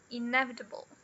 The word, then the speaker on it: inevitable: E aqui com cinco sílabas a gente tem o inevitable, inevitable. Então, o som do e, aqui a gente tem o e na sílaba tônica, olha só, o apóstrofo da tônica. E aqui a gente tem o schwa. E o bl, esse e aqui no final, não serve para nada.